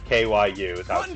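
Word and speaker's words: 九: that the japanese number nine is cute yeah pronounced q kyu transliteration run so this isn't the nine door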